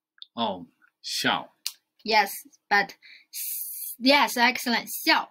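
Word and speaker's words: 笑: Has the same pronunciation with small. Oh, xiao.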